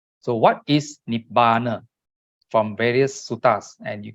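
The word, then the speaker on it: nibbāna: Not n i b a n a not nibbana. Nip ber. So what is nibbana from various sutas and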